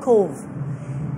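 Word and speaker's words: Cobh: And also this really, really tiny town called Cove. And Cove is spelled as C-O-B-H.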